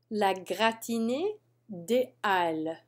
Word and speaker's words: la gratinée des Halles: La gratinée des Halles. And you're right to notice that there's no liaison here. It's because this is a special kind of H. la gratinée des halles, l'assiette